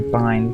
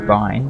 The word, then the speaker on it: bin: like trash can or bind because it's short for binary it's I would not argue with people who would say it's Bine because technically it is